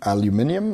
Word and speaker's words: aluminium: it is it is made out of aluminum or aluminum aluminium as the british say and it's a surface